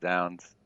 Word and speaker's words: zounds: think it's z-o-u-n-d-s yes as far as i know it's pronounced sounds okay see i've i've